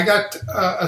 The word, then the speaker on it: Gotoh: dive i mean just like that uh i got a set of the uh gota i think his house pronounced g g o t o h 350